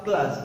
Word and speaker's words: clause: हमने कई बार सुना भी है, कई स्टूडेंट्स इसे क्लोज नाम से बुलाते हैं, लेकिन अगर सही देखा जाए तो इसका जो रियल प्रोनाउंसिएशन होगा वो होगा क्लास.